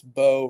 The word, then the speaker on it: Bow: Uh, it's bow rather than bow, but you you you danced to the middle there, which was good.